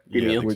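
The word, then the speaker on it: Demeo: You have Demio, is that how you pronounce it? Yep, Demio.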